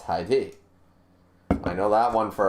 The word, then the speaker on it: Hide: in case anybody's wondering my pronunciation of that name it's not hide hide is hide and seek that's an English word when it's in Japanese you know it's hide I know that one